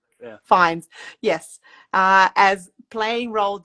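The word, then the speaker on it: Fiennes: Well, I don't know how you pronounce his name. The actor Ralph Fias Fis Fines.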